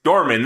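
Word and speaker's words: Dormin: It's Nimrod backwards. Dorman, there we go.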